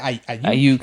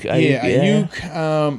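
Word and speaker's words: Aiyuk: Ayuk. Ayuk.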